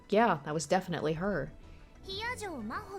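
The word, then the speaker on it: 比屋定真帆: Hiyajo Maho って読むの。私の名前、Hiyajo Maho。漢字でもローマ字でも誰も読めた試しがないから、先に言っとくわ。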